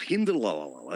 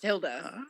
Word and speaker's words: Hilda: Oh, Hindelala. It's very fantastic. Hilda. We can agree to disagree. Okay. Well, you can disagree about my name, sir, but it is my name, and it is pronounced Hilda.